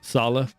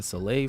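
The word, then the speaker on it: Saleh: and for the jets they have a new new coach there you're a former coach yeah salah so that's how you say it i've been saying soleil for you yeah so sal is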